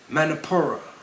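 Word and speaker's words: Manipura: is actually the solar plexus chakra and better pronounced manapur where is the location of the solar plexus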